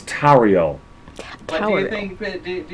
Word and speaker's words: Tauriel: You know Tauriel. Right. It's pronounced Tauriel.